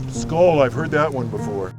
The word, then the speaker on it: skål: Skål. Skål. Skål, I've heard that one before.